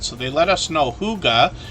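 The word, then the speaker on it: hygge: they let us know Huga which is how we pronounce this h-y-g-g-e here means cozy peaceful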